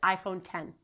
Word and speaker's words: iPhone X: Steve Jobs and Tim Cook pronounced it the exact same way. They said iPhone 10.